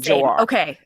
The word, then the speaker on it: Joar: because you're doing Jor, you're doing J, or you're doing a lot. Just pick one. And I went with the straightforward pronunciation, Joar.